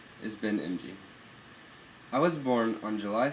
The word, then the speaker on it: Emge: My last name is actually pronounced emge, but my grandfather changed it to sound like emge after he moved to the United States.